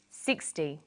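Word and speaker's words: sixty: Usually the first syllable in a number is stressed. 16, 60. Notice that it's the final N in teen that you have to be careful with.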